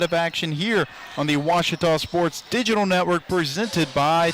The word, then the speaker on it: Ouachita: for Washita Baptist University back in Texas everybody pronounces it Wichita but really it's Ouachita Washington how would you pronounce it off it's Washita Baptist University get it right it's Ouachita people it's Ouachita and welcome back to